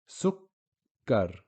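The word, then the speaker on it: سكر: This is what I meant by sukoon on the first of the double letter, and then the vowel on the second of the double letters. Sukkar.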